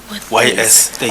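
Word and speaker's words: Thys: I think it's written T-H-Y-S. Teis, Oh. yeah. Ace would be Ace like Ace Nzwalenge. No, Thais. T-H-Y-S. I'm Teis. sorry. Is it Tace or Yeah, Ace? Teis. Tace, oh, okay, all right. Pronunciation is Kwebu, Teis.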